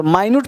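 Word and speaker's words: minute: तो ध्यान देना इसको मिनट भी पढ़ सकते हैं। अगर मिनट पढ़ोगे तो हो जाएगा समय की इकाई। 1 मिनट 2 मिनट और माइन्यूट पढ़ोगे तो सूक्ष्म। तो मिनट स्पेलिंग सेम है। साउंड अलग है। मिनट कहेंगे तो समय की इकाई और माइन्यूट कहेंगे तो सूक्ष्म।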